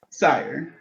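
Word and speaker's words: Syhr: Sire. Yeah. Oh. Yeah, like Okay. it's spelled sire.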